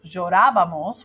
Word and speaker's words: llorábamos: So yo lloraba, tú llorabas, él lloraba, nosotros llorábamos with an accent on the A, and ellos lloraban.